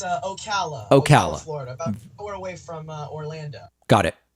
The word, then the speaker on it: Ocala: you hey david what's up yes it's uh ocala ocala florida we're got it what's going on